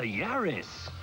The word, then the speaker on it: Yaris: they've given us the Yaris nice to see Toyota hasn't abandoned the silly name tradition and picked a Handler that rhymes with Paris to suggest something traic